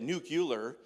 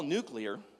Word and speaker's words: nuclear: was George Bush that said nucular and for a while I thought they were different I thought nuclear nucular must be different but they're not he just said it wrong it's all nuclear nuclear war could end